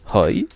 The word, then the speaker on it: hoi: le comprendre des bribes aille se prononce roj open doors se prononcent